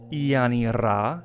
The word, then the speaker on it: Yanni-Ra: Her name is quite the exotic one, pronounced Yanni-Ra. You know, you can roll that R real nice and fancy like Ra, or you can just, if you just want to pronounce it like a country bumpkin, you can just give it the good old Yanni-Ra.